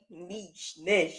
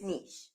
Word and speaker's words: niche: Like niche, nash. Yes, it's niche.